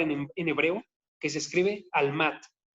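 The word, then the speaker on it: עלמה: La palabra que tenemos aquí que está diciendo virgen es una palabra en hebreo que se escribe almat, como si fuera alma, pero con una H al final, ¿sí?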